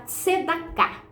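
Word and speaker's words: צדקה: Então, veja bem, no hebraico essa palavra a gente pronuncia ela tscedá.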